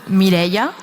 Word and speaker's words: Mireia: So I left a bit of a pronunciation guide there for you all. That's Mireia.